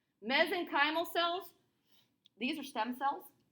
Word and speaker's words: mesenchymal: you um these uh mezzan mesenchymal there we go i had the emphasis on the wrong syllable mesenchymal cells these are stem